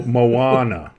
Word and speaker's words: Moana: now she was on Mona but did you say Mona why how is that that movie pronounced Jesus Christ why am I friend she was on Toy Story Mo Moana Moana that is Moana Mona Moana it's not